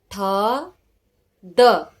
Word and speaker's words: थद: थद। मैंने पहला पहला ये वीडियो निकाला था। थद, थ द, थद। प्रोनाउंस क्या करोगे? थ द, थद। आधा थ, थद।